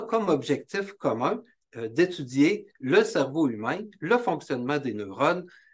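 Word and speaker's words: CERVO: qui s'appelle le Centre Cerveau. C'est un acronyme qui se prononce comme le cerveau.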